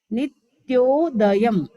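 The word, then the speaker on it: नित्योदयम्: हमें शुद्ध सीखना है नित्योदयम लास्ट में डॉट को म बोलना है नित्योदयम नित्य दयम दलित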